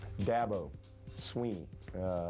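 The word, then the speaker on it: Dabo Swinney: Dabo Sweeney is how you pronounce my name, and I've had that my whole life.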